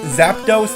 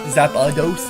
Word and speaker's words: Zapdos: It's the zapados because every time I say it like he cuz you say it so fast I say it's zapos not zapados cuz where's the a where's the a you